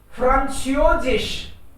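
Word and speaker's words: Französisch: कैसे बोलेंगे इसको? फ्रांसियोजिश बोलो। फ्रांसियोजिश। इंग्लिश, CH है, कहीं SS मत कर देना इंग्लिश के हिसाब से, स्पेलिंग में भी फर्क है।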